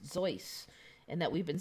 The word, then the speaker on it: Seuss: so they're saying that the seuss that we now see the spelling is actually supposed to be pronounced zoice and that we've been